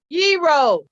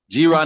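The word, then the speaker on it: gyro: of those before and pronounce it for them hero hero uh i hear some people say hero g-rod never heard nobody say g-roo that's them that's from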